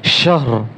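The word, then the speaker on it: شهر: শিন হা জবর শাহ, রা দুই জের রিন, শাহর, শাহর। রা দুই জের রিন হবে না, শুধু র উচ্চারণ হবে, শাহর।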